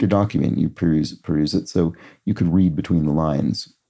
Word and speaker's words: Seuss: of totter around and author who originally intended his pen name to rhyme with voice though Americans pronounce it differently oh that's funny I didn't know this it must be Dr so Dr soy wow that's yeah wow